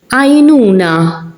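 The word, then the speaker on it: għajnuna: Ainuna, the ein is in the beginning, so I'm not pronouncing it.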